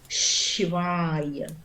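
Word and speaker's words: Śivāya: Shivaya, Shivaya. Esse A com tracinho é bem aberto, Shivaya.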